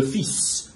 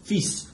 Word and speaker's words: fils: Normally, you do not pronounce final consonants in French, and the word for son is an exception. It's le fils, fils. The L is silent, but the S is pronounced.